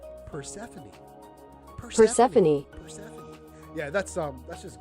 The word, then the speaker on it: Persephone: Persephone. Persephone.